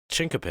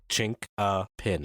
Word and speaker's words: chinquapin: Chinkapin. Okay. Chinkapin. It's not qua, like a QU.